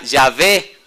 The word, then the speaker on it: Yahvé: La mayoría de los eruditos hebreos opinan que la pronunciación de las consonantes Y, H, W, H era Yahvé.